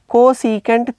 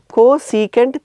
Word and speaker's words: cosecant: that is defined as cosecant theta it is actually cosec but we always pronounce it as cosecant theta clear aren't you thinking